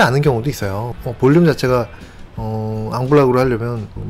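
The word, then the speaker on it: en bloc: 이 앙블락 제거라고 하는 거는 레지던트 때는 그냥 엠블럭이라고 불렀는데, 영어식으로 그렇게 발음을 했죠. 엠블럭으로 제거한다 이런 표현을 썼는데, 이런 거는 어떤 거를 한 덩어리로 그냥 같이 제거하는 거예요.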